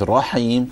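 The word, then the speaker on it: الرحيم: So with Rahim, try to move your lips less. Rahim. Ra. Try to pronounce it from the tongue.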